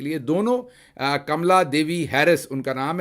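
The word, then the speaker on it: Kamala: बहरहाल कमला, उनको कामला यहाँ पर कहते हैं, लेकिन वो जो उसकी सही प्रोनाउंसिएशन हिंदुस्तान से होगी वो कमला होगी।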